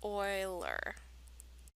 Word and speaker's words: Euler: talk about more and in case you need to know how to pronounce it it's Euler so an Euler circuit